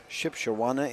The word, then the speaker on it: Shipshewana: Shipshewana, Indiana. I think I pronounced that right?